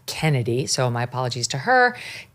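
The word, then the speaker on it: Chennedy: You pronounce the name, even though it's spelled C-H. You just pronounced it Kennedy, so my apologies to her.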